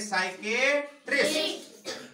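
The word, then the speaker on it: psychiatrist: अर्थात पी कैसा है इसमें, साइलेंट। ऐसे PSYCHIA इसी में TRIST इसको क्या कहेंगे, साइकेट्रिस्ट।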